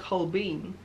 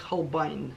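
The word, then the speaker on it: Holbein: Может быть, в России говорят Холбейн, но по-английски говорят Холбайн. Это английская фамилия, и она произносится Холбайн. Вы можете выйти в Google, написать английскими буквами Холбайн, нажмите кнопку звука, и вы услышите, как это произносится.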